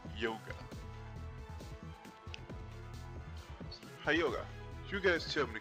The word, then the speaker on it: Hyoga: That's really aggressive, Hyoga. Then again, I'm told it's actually pronounced Yoga.